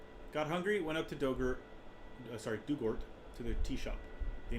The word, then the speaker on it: Dugort: Pronunciation, Doug, like the past tense of dig, and Ort, or Ert, rhymes with hurt. So Dugort.